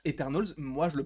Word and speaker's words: Eternals: mais en moins enfin en anglais ça se prononce eternalz moi je me prononcerai